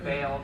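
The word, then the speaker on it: Bayle: it I like the idea of bile though or sorry bail I say his name wrong every time uh because I read it in my head first but no I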